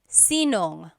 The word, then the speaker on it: sinong: If you have sino ang in a question, you might hear sinong. So they put it together.